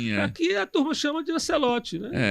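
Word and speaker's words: Ancelotti: É, como é que tu pronuncia aí, Ran? Ancelote. É, é Ancelote.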